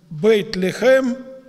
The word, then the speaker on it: Бейт-Лехем: Вифлеем по-еврейски произносится как «Бейт-Лехем», то есть «дом хлеба».